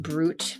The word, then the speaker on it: Brut: Is pronounced brute.